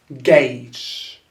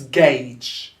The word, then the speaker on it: gauge: to this one here gauge so that's gauge so ignore about the u it's a verb okay